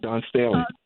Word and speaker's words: Dawn Staley: out, folks, to Coach Dawn Staley. Is that the way you say her name, Daryl? Yeah, Dawn Staley, absolutely. Yeah, because she was approached